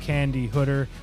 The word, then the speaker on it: Candi Hooder: from Pittsburgh Pennsylvania Hall of Fame producer Mrs Candy hooder I pronounced that correctly you did you did yeah